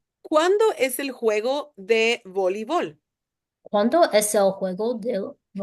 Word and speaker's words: voleibol: En Mm, español, volleyball voleibol. has EI, right? That's how it's written. En inglés, so it's like this. But when you pronounce it, you would say voleibol.